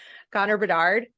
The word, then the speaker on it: Connor Bedard: Unless something goes awry with Connor Bedard.